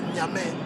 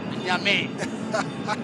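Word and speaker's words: Gnamien: You spell it as Gnamie, but then you pronounce as Nyame. Nyame. Well, I think that's Ivorian way of pronunciation.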